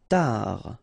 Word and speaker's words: tard: Tard. Final D not pronounced.